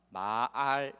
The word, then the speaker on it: 말: 인격이 고스란히 담겨져 있습니다 말을 길게 발음하면 마알 이 됩니다 빠를 깨게 반을 마다